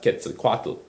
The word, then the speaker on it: Quetzalcoatl: Now Montezuma, the Aztec king, thought Cortés might be the god Quetzalcoatl, who was due to return... That's how you pronounce it. Quetzalcoatl, who was due to return that very year.